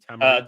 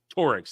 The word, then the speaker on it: Tuareg: They get picked up by how do you pronounce it? To the Tamariks? The Tuaregs.